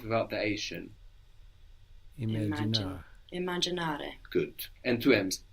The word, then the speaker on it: immaginare: Voglio immaginare. Lo voglio immaginare. Non lo voglio immaginare. Non voglio immaginare. Immaginare. Non voglio. Good. To imagine. Now, imagine has two M's in Italian, and you will pronounce those both.